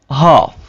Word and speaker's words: half: could, should, talk, walk, walk, half, salmon, salmon। तो आपने इन मिसालों में देखा कि एल कैसे साइलेंस हो रहा है, ठीक है, एल को हमने ड्रॉप कर दिया।